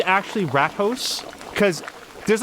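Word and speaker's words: Rathaus: rat in Dutch so is it it's actually rat hos cuz there's like a mouse fonger and like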